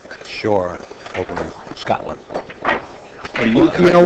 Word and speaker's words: Shaw: make sure I enunciate the Oh, it W, sounds like shore. S-U-R-E? Sounds that way? No, I Yeah. think it's shore, like We'll get Jayson over here.